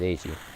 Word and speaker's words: Eiji: Like, I still pronounce his name IG instead of what it's supposed to be, which is Eiji.